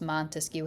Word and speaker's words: Montesquieu: And I want you to think about how many syllables Montesquieu has in it and clap it out to yourself. Montesquieu. There's 3 syllables in there.